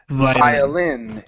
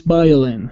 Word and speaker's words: violin: instead of Bio it's violin and the stress isin violin he's it he's violin yeah violin all right so the stress is at the end of the word violin violin good that's it